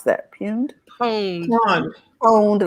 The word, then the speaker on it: pwned: Pwned. Pwned, like owned with a P.